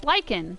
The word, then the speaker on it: lichen: It's Lyken. It's not lichen. It's lyken. So, okay, that was how you say it.